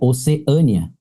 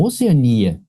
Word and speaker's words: Oceania: Não, mas olha só, se fosse um ditongo no final, a pronúncia seria a outra, né? Qual que seria? Seria Oceânia. Tá vendo? Oceânia e não Oceania. Oceania não é ditongo. Oceania você pronunciou como hiato. E ela é Mas- correta, tá? É que essa palavra, meu querido, ela tem duas prosódias.